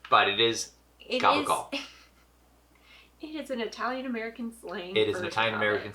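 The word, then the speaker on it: capicola: Goble gal it's pronounced gabble it's spelled that way with the c but it is gabble it is an Italian American slang it is an Italian American slang version but that's what it's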